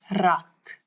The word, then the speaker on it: rak: but now we've got a new sound in Afrikaans that a lot of people in different languages struggle with a little bit, and it's the rrr, as if your tongue is jumping up and down in your mouth. Rrr, rak.